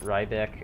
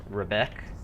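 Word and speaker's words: Riebeck: it right back like I heard people pronounce it Ryback and that and they were acting like it's right and nobody was questioning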